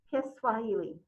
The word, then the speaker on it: Kiswahili: the national language is kiswahili i hope i'm pronouncing that usually i just hear it's called swahili's but so there's a little there's an extra part to it so i'm hoping i'm pronouncing it right all right so were